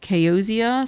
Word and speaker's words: Kayozia: I say it Kaoza, but it's pronounced Kaozia, so it's whatever you want to call me.